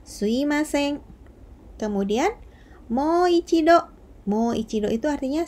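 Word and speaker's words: すみません: moichido Hai slim asing itu artinya Maaf ditulisnya sumimasen tapi dibacanya swim Hai karena biasanya orang Jepang itu mengucapkannya tidak sumimasen mengucapkannya slime seng kemudian moichido mouichido itu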